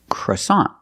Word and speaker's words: croissant: stop so together CA croissant croissant is the American pronunciation of this word we see with the NT at the end the t is a stop T we don't say croissant we put the tongue up and stop the air for that t so together croissant croissant